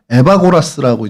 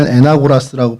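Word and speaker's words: Εὐαγόρας: 어 그 에나고라스가 정확하게 우리는 에나고라스라고 계속 그게 익숙한데 왜 그 이름이 조금씩 바뀌잖아요. 저 어릴 땐 웨슬리를 또 웨슬라라고 부르는 목사님도 계셨거든요. 좀 바뀌었는데 오늘의 공식 명칭은 에바고라스라고 이제 정확하게 이제지 변경이 됐습니다.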